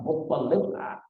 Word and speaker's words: Muttalib: Ini lamnya ya ada tasdidnya lah. Muttalib asalnya mutatallib, ya. Mutatallib, kemudian taknya diganti tok, diubahkan menjadi Muttalib.